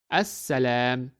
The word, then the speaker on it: السلام: And that is why we do not pronounce the letter lam and we read it as As-Salam.